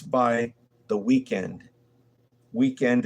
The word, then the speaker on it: Weeknd: Weekend is spelled Weeknd. There's no E in end.